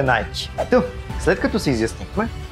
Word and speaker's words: Nike: ама не сте прави името идва от гръцката богиня на победата ники а компанията официално използва произношението nike тоест може да си му казвате nike ники или както искате но правилото е найки та след като се